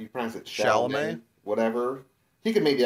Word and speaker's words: Chalamet: I also say Timothy Chalamet because that's just easier to say, but I think it's pronounced Timothée something. No, it's Timothy Chalamet.